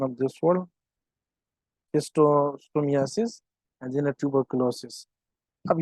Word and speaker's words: schistosomiasis: So DOTS is the most effective treatment in HIV, AIDS, leishmaniasis, malaria, and what is the pronunciation of this word? Schistosomiasis and then tuberculosis।